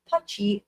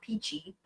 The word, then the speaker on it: Pitchy: He mentioned that the woman he spoke to, Jeannie Pitchy, which she clarified is correctly pronounced Putchy, not Peachy, seemed very nice and convinced him that we would enjoy living in her house.